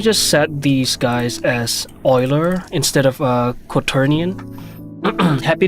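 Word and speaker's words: Euler: Oiler. It sounds more right when you when you say um when you pronounce it the way it's spelled, uler. But it's uh it's apparently not the case. Oiler.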